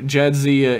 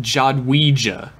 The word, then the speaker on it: Jadzia: a bit of pronunciation Jadzia in English is pronounced like on the show Jadzia in Polish is pronounced jawed we gia okay and it's an